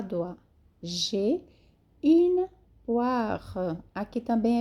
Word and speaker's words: poire: J'ai une poire. Aqui também é bem sutil a última sílaba, ok? O R é bem pronunciado da pera. J'ai une poire.